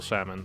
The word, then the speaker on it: salmon: And if so, does the bodybuilder mind wholesale salmon, or does it need to be fresh salmon? Salmon? I don't think you pronounce the L there. Salmon. You definitely don't.